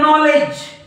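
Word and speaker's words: knowledge: असं म्हणतात का क नॉलेज कनॉलेज कनॉलेज असं म्हणतात का तुम्ही नाही नॉलेज बघा नॉलेज नॉलेज म्हणजे या के चा उच्चार होत नाही तुम्ही असं म्हणतात का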